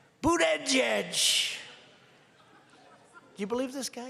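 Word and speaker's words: Buttigieg: then Jets I said think of it as boot and then edge edge because nobody can pronounce this guy's then open boot edge edge they say booted edge and Trump what I've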